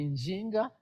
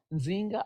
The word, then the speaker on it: Nzinga: going to see Queen Zinga. You're going to see the pronunciation may be different. It's going to be Njinga, Nzinga, or everything.